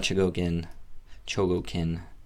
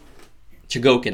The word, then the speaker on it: Chogokin: There is my review of the Super Robot Chogokin. Been trying to say Chogokin more. That's the proper way to say it. Chogokin I've been saying forever, but Chogokin I've been saying forever.